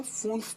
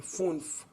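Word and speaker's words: fünf: 5 में उमलाउट है यू पे, इसलिए इसे फून्फ पढ़ेंगे, फून्फ.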